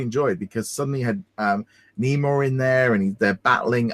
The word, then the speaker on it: Namor: really know much about Namor, or Namor, however you want to pronounce it. I'd say Namor, but yeah, it's kind